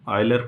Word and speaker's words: Euler: ऑयलर function, आप लोग इसको जब पढ़ेंगे तो जैसे ऑयल पढ़ते हैं ना, ऑयलर, तो इसका जो प्रोनाउंसिएशन होगा ऑयलर की तरह करिएगा।